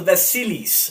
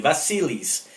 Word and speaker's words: Vassilis: today is called, and I had to Google the pronunciation, and this is called the Vassilis, if I'm saying that correctly, Vassilis. It's the Vassilis model number A204B-1.